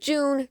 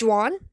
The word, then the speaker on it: Juan: Some people pronounce it June, John, Jane, whatever. It's Juan. I don't know how I came up with that, but I guess that's the canon way to say it.